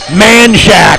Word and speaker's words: Manchaca: Prime examples locally: Austin's Man Shack for Manchaca, San Jacinto for San Jacinto, and Guadalupe for Guadalupe, among many others.